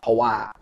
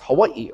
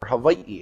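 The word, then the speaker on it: Hawaiʻi: things correctly you know it's not Hawaii I'm going to Hawaii you know it's it's Hawaii or Hawaii it's the three syllables and what does that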